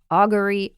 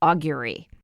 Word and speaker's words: augury: But I always used to say augury, and I've come to learn that either pronunciation is acceptable. So there you have it, augury, augury.